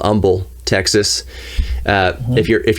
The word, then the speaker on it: Humble: if you're from houston if you're from texas you know to pronounce it humble no h just humble but that's where that's